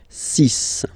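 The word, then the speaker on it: six: Then be careful here, because even if it's ending with this X, well, you'll have to pronounce it like S. Okay? So you get the 6 pronunciation. 6.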